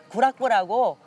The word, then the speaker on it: 구락부: 여기는 구락부라고 어 영어 클럽을 일본식 발음으로 구락부라고 하는데 사고 장소라고 보시면 되겠습니다.